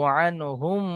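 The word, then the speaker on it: عنهم: হা জবার আন আন লাস্টে হাটা হালকা সামান্য একটু উচ্চারণ হবে আন রাদিয়াল্লাহু আনহুম ওরজান জালিকা জাল খারা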